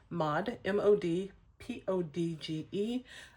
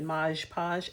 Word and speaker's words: Mod Podge: using our Mod Podge, M-O-D, P-O-D-G-E. A lot of times people pronounce it Mod Podge, and it's so easy to do, but it's Mod Podge.